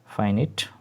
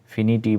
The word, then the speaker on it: finite: ফাইনিট verb, উচ্চারণ কিন্তু ফাইনিট, ঠিক আছে? অনেকে ফিনাইট বলে, অনেকে ফিনিটি বলে, ঠিক আছে?